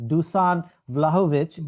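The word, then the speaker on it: Dušan Vlahović: It was Dusan Vlahovic. That's how you pronounce.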